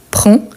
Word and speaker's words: prends: à ces verbes donc tu prends avec S mais on ne prononce pas ni d ni s à la fin il son manteau avant